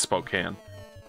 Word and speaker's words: Spokane: It's Spokane. It's just like how you Midwesterners insist that it's pronounced Oregon because they've, I don't know.